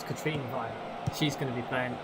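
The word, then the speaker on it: Katrine Veje: I nearly said her name wrong. It's Katrine Via.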